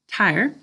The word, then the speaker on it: tire: It's IE with a silent final E job one.